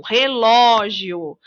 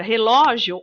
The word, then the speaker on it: relógio: a sílaba tônica vejam relógio no caso da palavra relógio ó é a sílaba mais forte é a sílaba tônica da palavra bom e